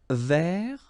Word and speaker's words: vert: Vert. So masculine form, don't pronounce the final T.